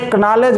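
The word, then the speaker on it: knowledge: इसी तरह से नॉलेज लिखते नॉलेज है, पढ़ते नॉलेज है। के कहाँ गया पूछा जाता है तो कहते हैं साइलेंट है।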